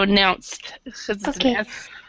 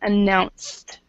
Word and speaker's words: announced: this one announced oh this is a t as well so announced s sound announced announc and then also